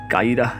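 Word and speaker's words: القاهرة: রাখা হয়েছে শহরের নাম কাইরোকে স্থানীয়রা ডাকে কাইরাহ নামে আরবি ভাষায় এই শব্দের অর্থ বিজয়ী ইংরেজরা কাইরা উচ্চারণ করতে পারে না তাই বাইরের দুনিয়ায় কাহিরাকে এরা পরিচিত করিয়েছে কাইরো নামে কাইরোর বিজয়ের গল্প বয়ে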